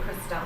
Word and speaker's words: Krystalle: Is it Crystal or is it Crystal? I think it's just pronounced Crystal. Well, it's Krystalle.